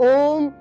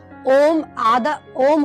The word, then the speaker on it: ओम: ओम होता है, उसके आधे के अंदर हमें बोलना है ए और ऊ का उच्चारण करना है और लास्ट आधे के अंदर हमें मैं का उच्चारण करना है।